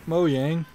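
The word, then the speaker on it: Mojang: mods please welcome from moyang Brand director Lydia Winters I guess in in the United States they pronounce it moang this summer millions of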